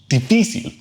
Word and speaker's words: difícil: And fourth word, difícil. Difícil. Well, in this case, the accent mark tells you where the stress goes because it breaks our usual rule.